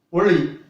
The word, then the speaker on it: ஒளி: அடுத்தது ஒளி. இது நுனி நாக்கு வாயின் மேற்கூரையை நடுவுல தொடரும், வாயின் மேற்கூரையில் நடுவுல தொடரும், ஒளி.